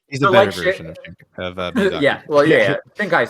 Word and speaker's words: Miyazaki: Miyazaki.